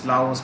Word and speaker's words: Laos: also so right laos many people don't pronounce the s it's lavos my friends pronouns you